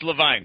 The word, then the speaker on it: LeVine: is only five letters so it's easy to pronounce which is the real one it's Levine sir okay look I all right all right